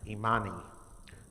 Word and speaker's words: Imani: And the last one is a good one for me, which is pronounced Imani, to believe with all our heart in our people, our parents, our teachers, our leaders, and the righteousness of victory and struggle.